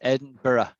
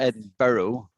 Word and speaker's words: Edinburgh: borough sign edinburgh eddie it's actually hard to say because it's four syllables and americans can't say it i mean they just don't say they say oh we say edinborough ed barrow but it's not ed burrow it's edinburgh edinburgh you got it